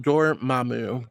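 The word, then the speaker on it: Dormammu: Uh Ryan says, "For do uh Dormu's name, it's pronounced Dormamu."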